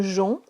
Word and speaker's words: jonc: Un jonc, J-O-N-C, le C ne se prononce pas, comme dans tronc, ajon.